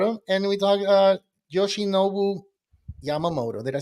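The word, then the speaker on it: Yoshinobu Yamamoto: we talked about him and we talked uh Yoshi noou Yamamoto did I say it right Yoshi noou yes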